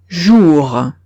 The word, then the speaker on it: jour: Entonces, si veo en una palabra una O y una U, esta combinación la leo como una U española. Ejemplo, jour. Jour. Veo una O y una U, la pronuncio como una U española, jour. Siguiente combinación.